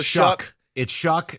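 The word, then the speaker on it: Shough: I thought it was Tyler Shaw, but it's Shuck, which rhymes with suck.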